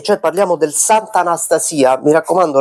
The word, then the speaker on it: Sant'Anastasia: Mi raccomando, l'accento è sulla i, non è Sant'Anastasia, come eh logica vorrebbe, come il nome eh anche di eh di persona femminile vorrebbe, ma il paese si chiama Sant'Anastasia.